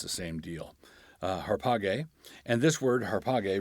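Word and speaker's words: ἁρπαγή: alpha but it's pronounced harpa gay ARPA gay and that's because the Alpha at the beginning has what in Greek is called a rough breathing mark that makes an H sound so it begins with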